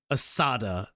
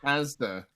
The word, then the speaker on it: Asda: Also, I have no idea if they have Assada. Assada. Carne Assada. Is that how you say it? Assada. No. Asda. No, is Asda. Asda. Assada. It's just Asda.